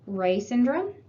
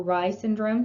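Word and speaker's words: Reye syndrome: specifically with aspirin is rey syndrome or rye syndrome some people pronounce it that way this is rare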